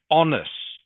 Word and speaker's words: honest: Okay, it's pronounced honest. Honest. So the H is silent.